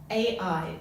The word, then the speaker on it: Ai: went into this city, Ai, pronounced I, right?